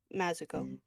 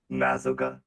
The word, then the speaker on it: Mazoga: It's Mazoga, right? Yes. See, Mazuko. Oh God. Stop. Mazoga. Emphasis on the first syllable.